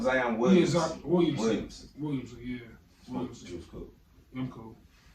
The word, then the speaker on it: Williamson: Am I saying that nigga name wrong? Zion Williams. Williamson, yeah.